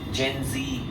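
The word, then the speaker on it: Gen Z: को ये बोलते हैं जजी मैंने चैट जीबीटी पे सर्च किया जजी का मतलब तो उसमें से आया कि जनरेशन हां generation जेड but this you pronounce जेंजी कि ये वो जनरेशन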